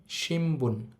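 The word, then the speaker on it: しんぶん: যেহেতু ন এর পর বি লাইনের বর্ণ আছে। ন এর উচ্চারণটা ম এর মত হবে। একচুয়ালি এটার উচ্চারণ হবে সিম্বন।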